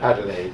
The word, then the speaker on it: Adelaide: You'll have to help me with the pronunciation here. Adelaide, Australia. Adelaide, yes.